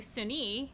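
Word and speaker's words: Sune: sunni is i'm sorry sunni i believe is actually technically how it's pronounced is also known as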